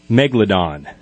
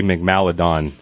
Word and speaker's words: Megalodon: my cryptid is and I always say it wrong Megalodon Megalodon the giant shark which I normally stay mcmalley don make Maryland oh yeah I started